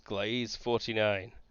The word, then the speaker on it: Gliese: the real name of gliese 49 it's glaze 49 vega that's where they want to go awesome pronounced gliese glieser it's gliese 49 that's where we want to